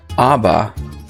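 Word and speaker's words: אבא: So how do you know that Abba, beginning with aleph, is supposed to sound like that, with a short A sound, as we would say in English?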